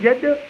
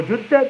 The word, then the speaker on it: Jeddah: So if you live in Jeddah or Jeddah, depending on which way you want to pronounce it, you can what?